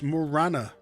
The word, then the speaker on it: Morana: it or more sorry it's Morana runestone I was mispronouncing it wasn't I what's